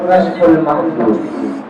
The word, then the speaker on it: کشف المحجوب: اس کا درست تلفظ ہے کشف المحجوب.